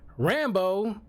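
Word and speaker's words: Rambeau: whose last name is Rambo not spelled the same way but pronounced the same way way it's like called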